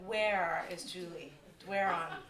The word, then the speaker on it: Doiron: Well, the way we grew up saying it in Moncton was Doiron. Yeah. That's what I have trouble with. Yeah, Doiron.